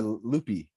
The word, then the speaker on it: Lupe: And is it Lupe or Lupe?